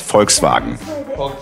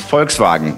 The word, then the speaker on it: Volkswagen: And the V in German can be pronounced as a V, but in this case, it's an F. So it's Volkswagen. Yeah, it's Volkswagen.